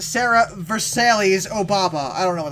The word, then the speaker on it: Versailles: Versailles. Wait, that's how you pronounce it? Yeah. Well, where'd the LLES go in that pronunciation? They're kind of pronounced like a Y.